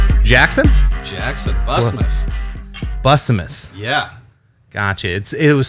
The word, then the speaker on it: Bussanmas: Bussanmas. Bussanmas. Yeah. Gotcha. It was spelled a little strange, so I wasn't even gonna try. The N is silent for some reason. Gotcha. But, Bussanmas is the way to pronounce it.